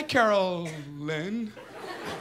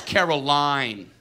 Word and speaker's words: Caroline: they're gonna drill you hi Carol Lynn it's Caroline it's Caroline Brian it's